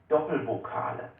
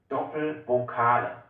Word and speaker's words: Doppelvokale: This is called Doppelvokale. Doppelvokal. Doppelvokale. This is actually pronounced the same way like the one we had before. You just need to make the sound a bit longer.